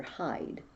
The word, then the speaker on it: Hyde: because it's him dr hyde it's spelled h-y-d-e but it's the part of himself he wants to hide away hide from the